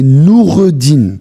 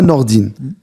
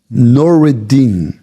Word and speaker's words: Noureddine: Mon vrai nom, mon prénom, c'est Noureddine. C'est même pas Nordine. Je l'ai encore simplifié, Nordine.